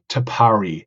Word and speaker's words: Tapari: been a little bit think about how to pronounce it but we settled on tapari tapari is such a unique and Innovative concept